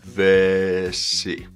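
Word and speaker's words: vesi: we take the word vessie water same rule applies we just combine all the sounds together V see kind of straightforward stuff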